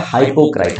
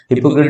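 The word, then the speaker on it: hypocrite: Next, next है आपका क्या, नेक्स्ट आता है हाइपोक्राइट। हाइपोक्राइट का मतलब क्या होता है, हिपोक्रेट भी बोलते हैं लोग, अलग अलग प्रोनाउंसिएशन है। हिपोक्रेट इज the good one, a person pretending to be somebody he इज नॉट।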